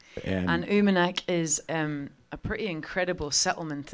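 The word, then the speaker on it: Uummannaq: spelling of it but I just wanted the pronunciation was always driving me crazy it's called Oommen axle and uma neck is a pretty incredible settlement in the Arctic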